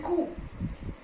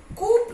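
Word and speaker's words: coup: psychology receipt okay then कूप this is कूप कूप नहीं बोलते कूप okay then again it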